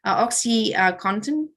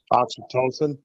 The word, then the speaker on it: oxytocin: Oxycontin, did I pronounce that right? Pronounce that for me? Oxytocin. Yeah, oxytocin, sorry.